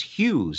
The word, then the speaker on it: Hughes: my middle name but what is the problem with the word h ug h es Hugh's I mean it's pretty simple but you say in